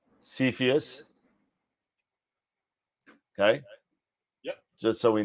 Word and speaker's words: Cepheus: So it's pronounced Cepheus.